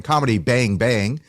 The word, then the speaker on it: Comedy Bang! Bang!: Comedy Bang Bang. Yes, you're saying it correctly. Thank you so much for stressing the bangs. Most people just say comedy bang bang and then they mumble the bang bang.